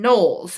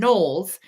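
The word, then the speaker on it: Knowles: for NES and Taylor and noes as in Beyonce spelled the same way k n o WL s and NES Taylor and nolles um were known in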